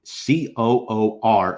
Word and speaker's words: Kuhr: I believe Coor is the phonetic pronunciation, so we're going to go with Kuhr.